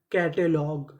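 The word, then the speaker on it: catalogue: सी ए टी ए कैटे एल ओ जी यू ई लॉग कैटलॉग कैटलॉग कैटलॉग का मतलब होता है सूची तो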